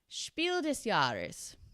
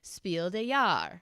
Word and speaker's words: Spiel des Jahres: And I know how to say it like that because I got absolutely roasted in the comments on a video last year where I pronounced it Spiel des Jahres, which is like a French pronunciation, I guess.